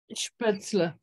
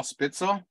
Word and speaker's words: Spätzle: Spätzle. Spitzel, there you go. Yes. Yeah, Spätzle, yeah. Ingeborg, did I say it right at all? Spitzel? No, that's something totally different.